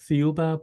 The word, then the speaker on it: Thiaoouba: It's called the Thiaoouba Prophecy, the Golden Thiaoouba.